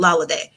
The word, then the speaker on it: Laladay: But anyway, it's lotus lady, but I pronounce it Laladay.